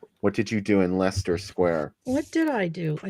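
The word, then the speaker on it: Leicester Square: how do you say is it life sister Square Lester Lester Lester Square huh do you go there often Jen I was just there the other day what did you do in Lester Square what did I do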